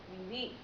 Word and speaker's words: vivís: So, in Spain, we would say vosotros vivís with an accent on the I, an emphasis, vosotros vivís.